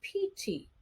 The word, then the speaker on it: Ptolemy: the ancient thinkers Ptolemy so the man's name is spelled pt-o-l-e-m-y but it's a Greek name so with the Greek we drop the p and it's Ptolemy all right so Ptolemy